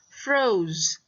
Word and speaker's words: froze: Alright, the last example for the pairing O and E is froze. Froze, like in frozen. Okay, makes the O say its name. Okay, again, the E doesn't make a sound there.